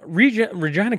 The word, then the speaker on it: Regina: experienced Regina's Rebrand experience Regina formerly known as tourism Regina officially launched its rebranded strategy last Thursday along with slogans such as the city that rhymes with fun and show us your